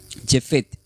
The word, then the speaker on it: Jefet: Se se escribe como shefet y e acento en la e f y la t. Jefet.